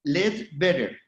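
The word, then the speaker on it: Leadbetter: en 1938 se llama el doctor Led Better. Se escribe Lead Better.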